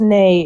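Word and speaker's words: nej: It's nay. It means no in Swedish.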